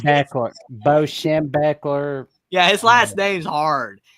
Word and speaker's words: Schembechler: Bo Schembechler.